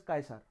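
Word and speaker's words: Caesar: Scissor नहीं होता actually, it इज कायसर, right? सी नहीं के से इसको प्रोनाउंस किया जाता है।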